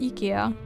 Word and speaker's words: IKEA: Some people pronounce it like this for some reason, but I think in in in Sweden it's actually pronounced IKEA, ironically enough, but those English speakers who calls it IKEA.